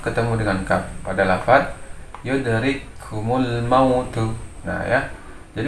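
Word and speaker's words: يدرككم الموت: Jadi membacanya adalah memasukkan suara kaf yang pertama ke dalam kaf yang kedua seolah-olah diidghamkan. Jadi membacanya adalah satu huruf kaf. Yudrikumul mautu. Nah ya. Jadi sifat hamznya pada kaf yang pertama ini menjadi hilang karena dia dimasukkan atau diidghamkan pada kaf yang kedua. Jadi membacanya yudrikumul mautu. Jadi yang bacaan yang salah atau yang tidak benar adalah yudrikumul mautu ya.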